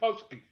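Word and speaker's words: pączki: And what is Punchki? Punchki is spelled P-A-N-C-Z-I.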